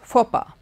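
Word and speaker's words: faux pas: a s is pronounced papa okay the X and s and all are silent now this word you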